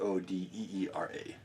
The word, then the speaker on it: Odira: said for o yep o d i r a but pronounced o d e e r a so O Okay Okay